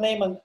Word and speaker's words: Neumann: I think, yeah, Neumann is the right pronunciation.